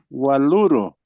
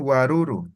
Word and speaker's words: waluro: Anteayer, Waluro. eso, ¿no? Waluro, algunos dicen guaruro, ¿ya? Una diferencia dialectal, L por L, ¿ya?